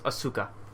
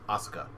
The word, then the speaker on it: Asuka: name ahsoka damn it I thought it was asuka hit no no it's uh however you want to show you is the you is like barely pronounce it's not quite silent but it's almost there it's Oscar which also the first thing I thought of